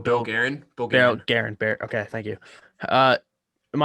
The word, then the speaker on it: Guerin: So their GM, but I can't even pronounce his last name. Bill Guerin.